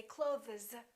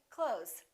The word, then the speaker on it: clothes: Same thing with the word clothes. We don't really say clothes. You might hear a tiny TH with some people's pronunciation, but most people just say clothes.